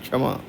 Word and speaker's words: क्षमा: यह पूरा हो गया क्षमा में क्या होगा आधा का और श्रद्धा बुद्धि क्षमा क्षमा में क्षमा मतलब लगना चाहिए का का प्रोनाउंसशन उस रिफ्लेक्ट होना चाहिए क्षमा तंद्रा मंत्रो द्रा में